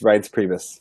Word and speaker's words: Reince Priebus: He kept referring to him as Rince Pubes. Rince Pubes. Rince Pubes. It's Reince Priebus for all you fans out there.